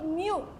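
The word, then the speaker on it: μ: Jadi ini eh simbol Yunani ya, bacanya itu mu ya mewah.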